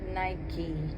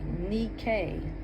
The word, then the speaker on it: Nike: We are on chapter 4, Claim Your Victories in Life with Nike. And the correct pronunciation, I believe, is Nikkei. Nikkei.